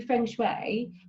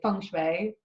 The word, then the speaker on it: feng shui: it's a learning process so in regards to french way um how how does sorry feng shui i say it wrong you got it you